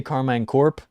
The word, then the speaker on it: Karmine Corp: If you say Karmine Corp, fair play. Go for it. I say Core because it's like Peace Corps, Karmine Corp. It rolls off the tongue better.